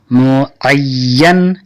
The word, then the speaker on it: معین: और जो वज़न, और जो वज़न उसका मुअय्यन है, معین کا آپ لوگ ہجے اس طرح کیجئے. میم پیش مو عین یہ زبر ای یہ نون زبر ین مو عین ہے.